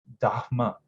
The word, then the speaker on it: Dharma: Then there was a very there was someone who then highlighted to me that it's supposed to be Dharma. That the H has that guttural that sound, you know.